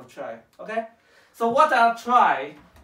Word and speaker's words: trie: about this tri actually it's pronounced as try not tree try okay try because